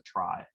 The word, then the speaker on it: trie: clever and cool and they're pronounced a try i don't make the rules there so i apologize to everybody who wanted to call it a tree or something so instead